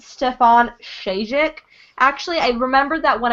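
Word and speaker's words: Stjepan Šejić: So I'm pretty sure it's pronounced Stefan Shajic.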